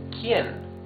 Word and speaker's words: quién: You can see that the U is muted. You don't read this que. You read this que. So this is que and this is quién. The U has no sound.